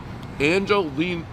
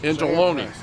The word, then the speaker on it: Angeloni's: Angeline. Why can't I pronounce it? Angeloni's. Angeloni's.